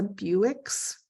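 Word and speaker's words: Bewick: Birds this is a Buicks Rim it's spelled not like Buick um and then the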